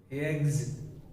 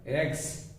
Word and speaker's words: eggs: raised raised raised and finally eggs we mispronounce it as x not the sound of a song here the sound of z eggs eggs and this is